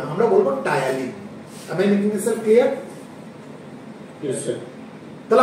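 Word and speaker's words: ptyalin: টায়ালিন। Clear? এই পিটা silent থাকবে, পিটা উচ্চারণ হবে না, খালি টায়ালিন আমরা প্রনাউন্স করবো এটাকে, ঠিক আছে? এটা পি টায়ালিন কিন্তু কখনোই বলবো না।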